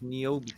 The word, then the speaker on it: Niobe: Niobe.